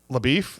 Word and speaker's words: LaBeouf: That means that not only is Ryan Mueller getting a point, but Shia LaBeouf LaBeouf, that's how you say his name.